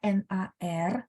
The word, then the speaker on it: 哪儿: Nah, teman-teman lihat, dia bacanya NAR, tapi tulisan huruf Mandarinnya dua ya. Na sama Cuman pas baca nggak baca 哪儿, enggak, tapi digabung jadi satu, 哪儿.